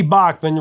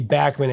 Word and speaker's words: Bachman: lost art So Randy Bachmann Randy backman actually is how you say his last name but people have said it Bachmann Turner overdrive so much he goes by Bachmann anyway No Sugar Tonight it